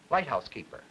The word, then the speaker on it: lighthouse keeper: Now listen, you'll agree that the loudest degree of stress is on the first word. The second loudest degree of stress is on the syllable keep. The weakest is on the and house is said stronger than but not so strong as keep.